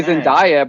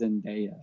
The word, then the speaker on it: Zendaya: Because I used to say Zendaya, but like she's like, no, it's not Zendaya, it's Zendaya.